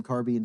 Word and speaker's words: carbine: double triple doubted myself they might have called them carbin back then I don't know I've always pronounced it a carbine it kind of depends